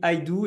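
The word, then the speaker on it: IDEO: d'asana qui s'appelle Idou ça s'écrit idéo mais ça se dit Idou et c'est un partenaire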